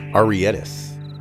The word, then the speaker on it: Arietis: Arietis. That's how the game pronounces it.